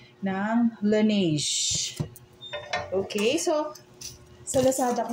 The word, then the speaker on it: Laneige: Yung pala yung pronunciation nitong, pronouncement nito, Laneige.